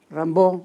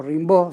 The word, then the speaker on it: Rimbaud: las imágenes de aquí rambo o rimbaud según como se quiera pronunciarlo que era muy joven y